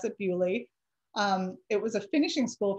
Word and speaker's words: Beaulieu: My British friend corrected me and said that this is how they pronounce it there. They pronounce it Beaulieu.